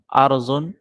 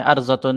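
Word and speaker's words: أرض: ارضن، ارضتن تھا، تو ارضن ہم پڑھتے ہیں، ارضتن نہیں پڑھتے، اصل میں ارضتن تھا.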